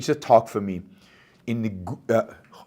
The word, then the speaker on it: Gouda: So in Amsterdam, a local objectivist arranged a talk for me in the Gouda is how you pronounce it, Gouda City Hall.